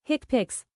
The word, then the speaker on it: HCPCS: HCPCS, pronounced hick pics, has two levels.